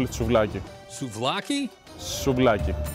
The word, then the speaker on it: souvlaki: Why can't anyone pronounce the name of this correctly? And it's not what you think. They call it souvlaki.